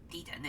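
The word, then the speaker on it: Titán: funky 3k i mean titan or d-10 if you want to pronounce it how it's uh how it is as far as it's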